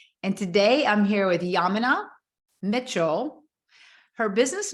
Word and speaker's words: Yaminah: So my name is Yaminah.